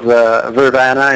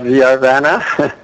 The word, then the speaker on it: Vrvana: The pronunciation we chose was Vrvana and not Vrvana.